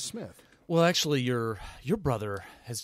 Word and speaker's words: Smith: And Smith is spelled with Y. S-M-Y-T-H. We probably should start saying Smythe Radio, but I don't want to because it's not appropriate. Because it really is Smith.